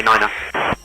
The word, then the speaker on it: niner: Expect runway niner. Squawk tree 324 and runway niner. Niner. You have to like really say it like that.